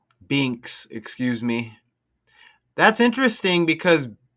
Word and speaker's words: Binks: I don't know which one's which, but one of them is uh less Brinks. Binks, excuse me. That's interesting because Binks, it does rhyme with Brink and remember Cameron Brink